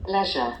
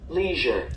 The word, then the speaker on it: leisure: Porque tem coisa assim, que o inglês americano a pronúncia é uma, o inglês britânico é outra. É o caso aqui dessa palavra, ó. Que você olha aqui, tá vendo? UK, Grã-Bretanha, tem essa pronúncia aqui, ó. Leisure. Leisure. É isso mesmo. Então existe a pronúncia leisure. Eu não sonhei com isso, não. Eu já vi essa pronúncia leisure. Mas a pronúncia americana é essa aqui, ó.